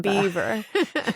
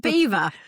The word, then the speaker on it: Belvoir: anywhere to the French, they decided to pronounce it their own way, so it's Belvoir. Belvoir as they told us.